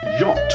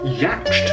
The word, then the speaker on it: yacht: maintain your Deep Cover it's pronounced yacht and not yatched I literally have a